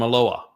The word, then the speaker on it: Eloah: How do you think that when you read El and Elohim, it comes from Eloah, which has the Wah sound?